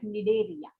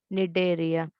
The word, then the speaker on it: Cnidaria: That C is silent, so you're supposed to pronounce it as Cnidaria. Cnidaria.